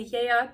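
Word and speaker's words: Geat: So we belong by birth to the Yeat people, and that is how you say it. If you're looking at that thinking you're out of your mind, it actually is the Anglo-Saxon way, which is not the important thing here.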